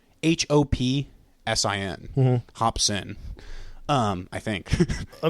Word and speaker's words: Hopsin: Hopson by Hopson I think that's how you spell it or say it it's h o p s i n Hopsin um I think I mean like everyone